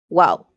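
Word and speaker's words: guau: say bar in spanish no they say maybe wow wow like wow yeah g u a u g u a u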